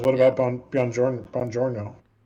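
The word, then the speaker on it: buongiorno: about on beyond Jordan Bongiorno Bongiorno that's a soft G yep isn't that a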